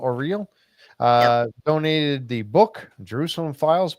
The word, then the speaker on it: O'Reilly: how do you pronounce your name? O-R-E-E-L, O'Reilly.